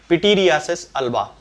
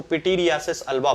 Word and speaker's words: pityriasis alba: का नाम होता है पिटीरियासिस अल्बा। ये इसका सही प्रोनाउंसिएशन है, इसको पिटीरियासिस अल्बा बोला जाता है।